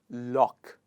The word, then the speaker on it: lough: it is lough’… yes! O-u-g-h is pronounced as /ok/ in this sound, what is it pronounced as?